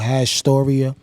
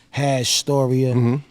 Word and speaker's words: Hashtoria: is going to be called hashtoria like hash and then Storia CU a lot of times people don't know how to pronounce it hash Storia you know it's going